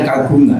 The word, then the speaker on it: kagungan: Gong itu untuk seni ee kagungan kita bacanya kagungan ber itu gong gong.